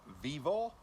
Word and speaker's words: VEVOR: a kind sponsors uh Vivo that's how you pronounce it have sent me a